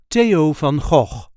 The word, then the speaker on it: Theo van Gogh: time we will see how to pronounce in a regular Dutch accent Teo F the brother of Vincent